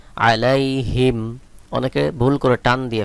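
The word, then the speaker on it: عليهم: হামিম হিম আলাইহিম আলাইহিম এখানে দেখুন মিম এর উপরে সাকিন দেওয়া রয়েছে অর্থাৎ এখানে কোন টান হবে না আলাইহিম অনেকে ভুল করে টান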